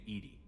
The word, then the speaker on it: EDI: have a specific inquiry why are you named Edie Edie is the phonetic pronunciation of Edie I that is an acronym